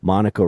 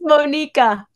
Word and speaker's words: Monika: in the recording Academy Monica did I pronounce it your name correctly I no no I didn't really it's Monica oh Monica that's right okay so Monica